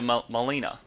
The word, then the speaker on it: Melina: Talk to Melina.